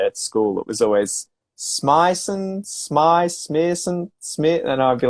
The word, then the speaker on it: Smissen: Did I spell correct your name? Smissen? Yes, you nailed it. Smissen. Smissen.